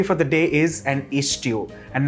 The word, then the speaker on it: Ishtu: The stew that I'm making today is deliberately pronounced Ishtu.